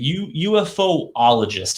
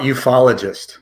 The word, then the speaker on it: ufologist: so i know that you are a ufo ologist is that correct how about ufologist ufologist ah a lot easier to pronounce that way it is so tell